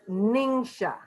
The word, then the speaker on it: NingXia: First of all, a lot of people have trouble figuring out how to pronounce NingXia Red. It's Neen-Sha. You see that phonetically spelled out?